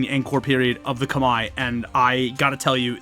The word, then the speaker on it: Khmer: We are talking about the Angkor period of the Khmer, which is how you would say it in English, or the Khmer, which is the proper way to say it in their native tongue.